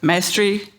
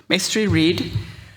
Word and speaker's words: Mestre-Reed: Next, we have, and not least, we have Ernesto Mastery. Did I pronounce it right? Mestre-Reed.